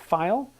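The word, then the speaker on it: Pfeil: Whereas file, spelled with a P, Piffle, and I've talked to people from the company and asked them, how do you pronounce it? Most people I've talked to pronounce it file. However, I've heard people from the company pronounce it 3 different ways.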